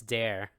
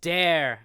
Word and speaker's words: Dare: like it's there but because of the way Sean Ryder pronounces it he says it's dare you know what yeah it's